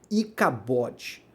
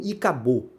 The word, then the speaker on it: Icabode: nome do filho dela de icabode tá ou segundo alguns pronunciam e cabo Tá mas a escrita é isso mesmo e pode tá tá